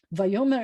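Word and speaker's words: ויאמר: But the fact that I'm going to tell you that because it's not a v like this, it's a va, and because where the accent is, it changes it to be future tense. Vayomer Elohim, and God's, and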